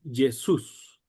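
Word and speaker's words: Ἰησοῦς: la llamada y entonces se pronuncia Jesús. Recuerden, aquí hay un tip tongo propio, pero la u matada la o y solo se pronuncia el valor de la i. Jesús. Jesús. Como el acento está en la U, se pronuncia de esa manera.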